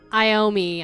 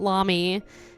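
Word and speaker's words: Iommi: okay we got Tony iomi I'm finally saying it right it's not Lami Tony iomi what do we think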